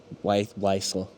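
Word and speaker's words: Wiesel: Um, uh, well, wisel. It's Polish. It's hard to pronounce. Vzel is the correct pronunciation, but you just said it phonetically, so you're good.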